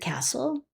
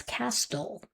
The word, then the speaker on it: castle: Because if we think about the word castle, we hear c a s l. There's a silent t there. And we have to make the student aware of this, otherwise that they'd be reading it as castol.